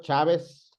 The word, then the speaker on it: Chávez: Por ejemplo, una palabra grave, mi apellido Chávez, debe llevar acento en la A porque tiene su sílaba tónica en la penúltima y termina con Z. Así que Chávez va acentuado.